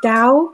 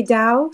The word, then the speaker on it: Tao: tao is you know in like chinese in religion you know buddhism it's dao you say dao so i didn't know